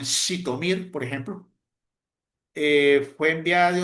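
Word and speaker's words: Zhytomyr: Está con las estampillas con la letra sh, esa es como la letra sh con Z, se pronuncia como Z, como en Shitomir, por ejemplo.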